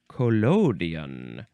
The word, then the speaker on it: collodion: And I want to look back at collodion, because I want to make sure I am pronouncing that in the proper manner of pronunciation.